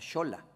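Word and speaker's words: Xola: shola que se dice se escribe con x pero se pronuncia shola o el gentilicio mica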